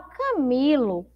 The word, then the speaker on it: Camilo: Então, a sílaba mais forte é o mi, não é?